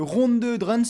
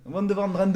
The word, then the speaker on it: Ronde van Drenthe: avec d'abord une course, c'est quoi le Ronde de Drenthe, je sais pas si je le prononce bien. Non, ronde de Van Drenthe. Ronde van Drenthe, excuse-moi. Et c'est le tour de